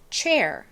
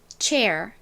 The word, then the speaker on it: chair: 그래서 연결해보면 chair, chair 이런 발음이 나요. 의자 영어로 한번 따라해보세요. chair. 끝에 R을 발음하실 때 혀가 뒤로 이렇게 꼬부라지면서 발음이 나야 됩니다. R 이렇게요. 자, 한 번 더 해볼게요. chair.